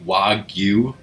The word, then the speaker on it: wagyu: wagyu burgers i guess the correct japanese pronunciation would be wagyu but people in americanizing it just to seem seem to call it wagyu beef but you know